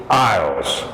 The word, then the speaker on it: aisle: be be be be going through the aisles same pronunciation as like the British Isles except it would be